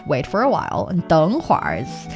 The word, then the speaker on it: 等会儿: 等会儿 is it's a northern 儿化音 thing. It's roll your R's kind of thing.